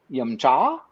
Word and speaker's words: yum cha: You have to say yum cha.